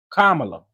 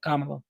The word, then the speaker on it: Kamala: Kamala. That's how you say it, like a comma, love. You know what I'm saying? Kamala, right?